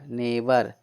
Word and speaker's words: neighbour: इसका उच्चारण क्या हो जाएगा, नाइट। नेक्स्ट है NEIGHBOUR, NEIGHBOUR, नेबर।